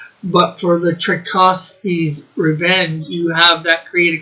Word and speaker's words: Tchaikovsky: Yeah, Rick, it's pronounced Tchaikovsky.